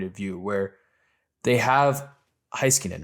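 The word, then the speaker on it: Heiskanen: from dallas's point of view where they have heiskinen right that's that's how you say his name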